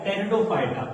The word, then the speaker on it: टेरिडोफाइटा: पी फॉर होता है टेरिडोफाइटा, P silent है, टेरिडोफाइटा।